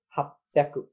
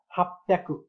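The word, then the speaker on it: 八百: अब यसमा चाहिँ हाप्याकु, हाप्याकु, हाचिह्याकु नभएर हाप्याकु, हाप्याकु यसरी उच्चारण गरिन्छ।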